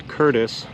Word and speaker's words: Curtice: anchor point marina in curtis ohio that's curtis spelled c-u-r-t-i-c-e ohio and it is a